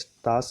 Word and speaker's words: TASS: तास, TASS, तास है।